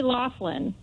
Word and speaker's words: Laughlin: is pronounced the same I think so I say Laughlin I don't know I heard some people the media I've heard say Laughlin as well I've also heard Lachlan and different so who knows